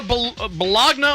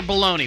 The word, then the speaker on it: bologna: Bologna, there actually is no such pronunciation as Bologna. Okay. It's bologna and bologna. Mm-hmm. Now, the bologna GNA is the meat. Okay. That's the meat you get at the cold cut counter.